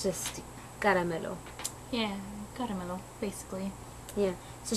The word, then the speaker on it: Caramelo: keep on calling her caramelo but like really how do you how do you say your name it's it's funny it's caramel um i talked to